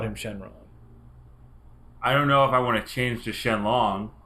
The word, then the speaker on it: Shenron: Shenlong is how they say it in the subtitles. But apparently it's Shenron.